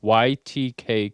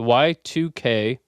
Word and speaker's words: Y2K: So, I have for you today the YTK conspiracy. The Y2K I mispronounced that when I said Y2K conspiracy uh